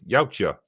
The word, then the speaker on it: Yautja: Clank Clank, I'm a Tank says, "Oh yeah, let's throw in that Yautja." I never know how to say it. It's Yautja.